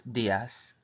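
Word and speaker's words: días: or days in Spanish you want to pronounce it d us like there's two E's next to the D and then the last part just the a and the S so again it is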